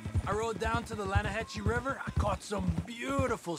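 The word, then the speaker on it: Lannahechee: The other day, I rode down to the Lanahatchee River. I caught some beautiful steelhead trout. You mean the Lanahatchee River? No, the Lanahatchee. It runs right near here. Yeah, but it's pronounced Lanahatchee.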